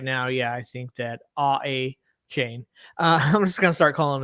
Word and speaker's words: Achane: I've seen NFL Network has it listed as A-Chain as their official pronunciation.